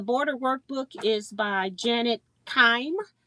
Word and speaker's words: Kime: But the border workbook is by Janet Kime, Cime, or it could be Kimmy. But I pronounce mine with a long vowel, so I'm saying Kime.